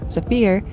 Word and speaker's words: Saphir: For the Sapphire Odico, or more accurately, the French pronunciation, Safir symbolizes the deep blue of the ocean and sky and the train's sophisticated design.